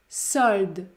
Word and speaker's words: solde: pomme solde solde solde la lettre E n'est pas prononcé le mot solde contient une syllabe la syllabe se termine par deux consonnes prononcées le de le de dans ce cas la voyelle O est ouverte sold solde solde interroge